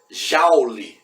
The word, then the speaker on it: Joule: Eu falei Joule, mas J se escreve, na verdade, o nome do cientista James Prescott Joule. Joule é a forma que se escreve, Joule é a forma que se pronuncia, tá bom?